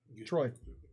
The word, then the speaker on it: Troy: I called him Trey. Troy. Yeah, that's who you are. Yeah, we're in your fucking home. I've always called him Trey. I didn't know I was saying it wrong.